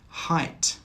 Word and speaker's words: height: Height, height. Through, through. Thorough, thorough. In all of these words, the GH is silent.